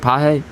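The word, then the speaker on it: Pagés: Teoscar Hernandez, Jason Hayward, and how do you say Page's name again? It's Pages or some shit. Paje.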